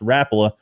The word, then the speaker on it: Rapala: which makes sense but he says it's actually pronounced rapula but i don't care